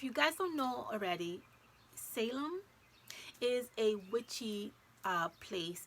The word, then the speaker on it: Salem: say this right because every time i see this word i want to say salmon and it's not it's not how you pronounce it is salem salem is how you